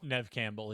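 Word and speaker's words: Neve Campbell: is it is it Nev how do you pronounce is it Nev Campbell Nev Campbell yeah Nev Campbell okay I I'm always thrown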